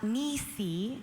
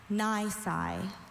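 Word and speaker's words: nisi: Nai or ni is an adjective.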